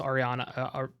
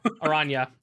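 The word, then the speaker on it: Araña: Yeah, I'm going to put it I'm going to put it below um the Boros Ariana. I'm not going to say it right. Arana.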